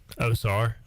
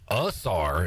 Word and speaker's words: Ozar: Ezra Ozar, as some say. Osar is what his pronunciation is. Osar is what the pronunciation guide says.